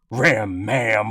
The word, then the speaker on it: Ram Ma'am: Ram-maam, on the other hand, laugh all you want, but it sounds very much like ram-man, and even rhymes with both syllables ending in am.